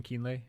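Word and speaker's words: Kienle: winner right exactly okay was Sebastian kein is that how you say his name yes ke yeah um okay let's get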